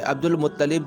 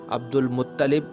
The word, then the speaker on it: عبد المطلب: کہا جانے لگا۔ یہ عبد المطلب جو لفظ ہے، اس کے 2 تلفظ بیان کیے گئے ہیں، ایک تو عبد المطلب اور ایک ہے عبد المطلب۔ بہرحال جو بھی بیان